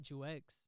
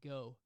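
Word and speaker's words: Geaux: claims Louisiana yeah and you know how you say Jew X and Louisiana not jus X more like go or something like that it's different pronunciations that's Gea let's go yeah that's what it's GE aux I mean come on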